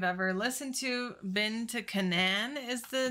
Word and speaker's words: Canaan: We obviously mispronounced. I was like Canaan and it's Canaan.